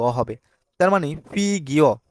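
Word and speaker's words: 보기: 187 নাম্বারে দেখতে পাচ্ছি ফোগী ফগি মানে হচ্ছে উদাহরণ এখন অনেকে বলবেন এটা বোগি কেননা বোগি হবা না কারণ বিয়োব যদি শব্দের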